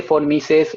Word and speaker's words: von Mises: El señor von Mises es alemán y las B cortas en Alemania las pronuncian como Fs, porque son personas extrañas.